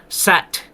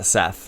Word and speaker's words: Set: And Oprah like does this set or Seth? Yeah. Seth. It's uh it's a but it's pronounced Set.